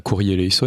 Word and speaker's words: Kyrie eleison: Vous allez entendre 3 fois Kyrie eleison, alors prononcé à la syriaque, c'est Kyrie eleison, et on en reparlera après.